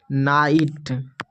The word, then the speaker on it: night: उच्चारण जो है नहीं करेंगे, फिर T का उच्चारण करेंगे। जैसे कि RIGHT राइट। फिर यहाँ पर है नाइट, NIGHT नाइट, फाइट, लाइट, हाइट।